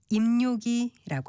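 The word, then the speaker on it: 입요기: 발음은 니은을 첨가해서 입력기라고 합니다.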